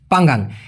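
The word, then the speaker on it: panggang: কথাটি ব্যবহার করতে পারে পি এনজি এনজি উচ্চারণটা হবে পাং গাং পাঙ্গাং তো বলতে পারি ইকান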